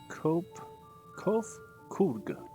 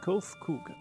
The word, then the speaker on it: Kof Kug: As for nomenclature to address my individual person, I believe it would be pronounced Kof Kug. Yes, Kof Kug of the Ia.